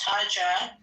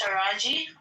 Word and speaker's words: Taraji: I think I thought it was Taj, but it's Taraji.